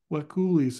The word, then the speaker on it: Wekulis: Wekulis. It's like whippoorwill. Wekulis. Three syllables.